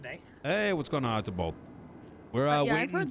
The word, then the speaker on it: Archibald: I pronounce it Archibald, but honestly, I'll answer just about anything as long as it's close enough.